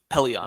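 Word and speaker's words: Pellaeon: I thought that was a great question Admiral paleon Pelion I think is how you say it yep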